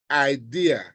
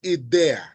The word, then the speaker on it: idea: Don't go there and say idea. It's idea.